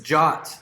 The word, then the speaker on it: JWT: so what does this jot look like you'll hear this pronounce is Jaques JWT which just stands for or